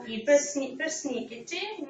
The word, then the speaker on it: persnickety: So persnickety means придирчивый, hasty, picky person, yes? It's a 4-syllable word with stress on the second syllable.